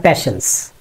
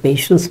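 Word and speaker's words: patience: আমরা বলি হ্যাঁ প্যাশেন্স। প্যাশেন্স না বলে যদি একটু পেশেন্স বলি তাহলে ভালো হয় আর কি। পেশেন্স, নট প্যাশেন্স।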